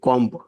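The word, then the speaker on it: comb: right ডব কিন্তু hidden এখানে right ডব্লি আর আই টি ই সি ও এম বি কম না সি ও এম কম বি হচ্ছে নীরব এই সাইলেন্ট লেটার না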